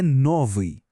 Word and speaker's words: новый: Nesses dois, a sílaba tônica está no começo, não no final. Por isso a gente volta para a terminação padrão, a ri.